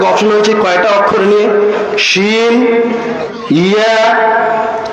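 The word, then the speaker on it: شين: শিন তাফাসসি মানে ছড়িয়ে ছিটিয়ে যায়, এই ছোট ছোট ছিদ্র দিয়ে শিনের উচ্চারণটা বের হয়, বের হয়ে আওয়াজটা কেমন হয়? ছড়িয়ে ছিটে যায়, ছড়িয়ে যাচ্ছে না আওয়াজটা?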